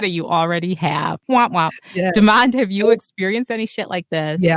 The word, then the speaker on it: Demond: will happen is like uh desmond it's demand uh damon it's demand uh demon it's demand oh i'm sorry uh-huh